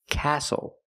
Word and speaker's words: castle: We also see the silent T when you have the spelling pattern S-T-L-E. Like these words, whistle, castle, and hustle.